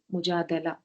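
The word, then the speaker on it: مجادلة: रसूल करीम अम्माबाद शैतजीम बिस्मिल्लाह्रमाहीम रब सदरी रब आमीन या रब सूर मुजादला इसको मुजादिला भी कह सकते हैं और मुजादला भी कह सकते हैं।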